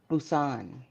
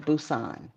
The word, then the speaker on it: Busan: What's how's it pronounced? Busan. Busan? Uh-huh. Like boots on. I got my boots No. on. Well, yeah, kind of close to that. Busan.